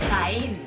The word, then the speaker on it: Jaén: Is it Jaén? Hayan? ¿Cómo se dice? Oh, la calle Jaén. Jaén. Jaén. I've been saying it correct.